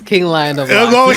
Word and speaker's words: KinglionofLocs: King Lion of Locks.